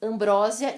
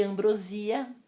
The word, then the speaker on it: ambrosia: Exemplos: ambrósia e ambrosia, vou facilitar, hein, que é um doce.